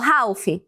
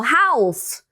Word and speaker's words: half: Você falou half? Falou half. Falou health. Só lembra que não tem esse L aí.